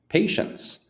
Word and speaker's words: patience: pronunciation right so here the t is pronounced sh and the a is not PA it's not parent par p p say no no P sh pay like a a pay patience I am patient with